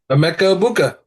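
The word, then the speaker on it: Emeka Egbuka: We said Emeka Buka. that's it, no, but Emeka Ibuka. Yes, but I pronounced it right.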